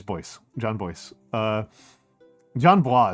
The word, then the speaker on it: Bois: So I'm like, do I call you John Bois? John Bois? Oh, I thought you going to say it boy. Uh, no. I'm pretty sure it's Boyce.